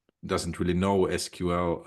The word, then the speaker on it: SQL: it kind of produces these really really complex queries and for someone uh that's not doesn't really know SQL or SQL that's that's how it should be pronounced uh then it's really